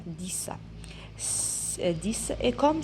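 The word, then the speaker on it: dix: Alors ici, le X, je le prononce comme S. 10.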